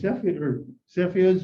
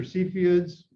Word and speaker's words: Cepheids: Cepheids or Cepheids, people pronounce it differently, I found out, but